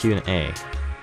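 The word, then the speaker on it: Hyun-ae: Oh, pronunciation. Hyun A. Okay, it's Hyun A.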